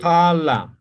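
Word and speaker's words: qala: Lo que pasa es que esta cala no existe en aymara. Lo correcto es Con Q. cala.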